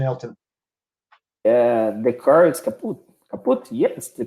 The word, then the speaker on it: kaput: Kaput, yes, the correct pronunciation. German word. Yeah, German word. Kaput, okay. Yes, that's actually a German word, kaput.